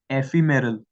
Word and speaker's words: ephemeral: Next word एफीमेरल, एफीमेरल, इट इज EPHEMERAL but pronounced as एफीमेरल।